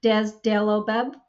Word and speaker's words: Dazodalibep: It's DAZ, D-A-Z, okay? But it's pronounced Dazodalibep, or DAZ, right?